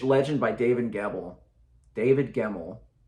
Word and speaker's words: Gemmell: by David gavel David gemmel it's not a hard name to say how did I say his name wrong when I read legend by David gemmel I immediately went online